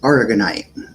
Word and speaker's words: aragonite: one um and then it's a white it's pronounced aragonite um that helps with like bone issues nerve